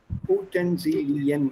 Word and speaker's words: Utensilien: Mind the pronunciation. Utensilien, it's normally plural.